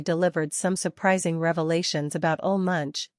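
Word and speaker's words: Ole Munch: some surprising Revelations about ol Munch or ulam monk as it's pronounced and finally explained his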